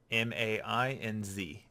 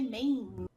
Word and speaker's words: Mainz: M-A-I-N-Z for people who are out there trying to find out how to actually pronounce this. Well, I'm glad that you didn't say Maine. I'm assuming Mainz because German.